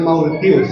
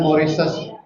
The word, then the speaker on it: Mauritius: Kita menyebutnya Mauritius ya. Padahal bacanya Maurises.